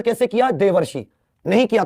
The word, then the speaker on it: देवर्षि: देवर्षि शब्द हमने ऐसे ही बोला है, लिखा ऐसे है, लेकिन उच्चारण कैसे किया, देवर्षि।